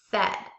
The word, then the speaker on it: said: That's the tricky part because the A-I together in this word makes the eh sound.